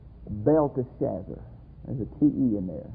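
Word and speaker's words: Belteshazzar: there I've been pronounced in Daniels name is Bell Shazzer but I've been pronouncing it wrong I never didn't see the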